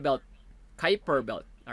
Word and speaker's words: Kuiper: is pronounced as your kuiper belt kyper belt all right so pronounced yeah but this is pronounced your kuiper belt all right so short